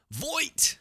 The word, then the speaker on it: Voight: Voight. I used to say Vought. It's Voight.